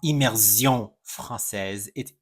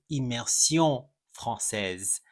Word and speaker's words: immersion française: of their program correctly it is immersion fran it's not immersion français immersion franise.